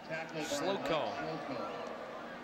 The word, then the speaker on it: Slocco: That's how you pronounce it. Slocco. Not sure why, but that's how.